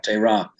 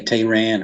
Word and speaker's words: Tehran: In fact, you're one of the few people I've come across that says it right, Tehran. Most people say Tehran or Iran. So you've learned how to pronounce it correctly.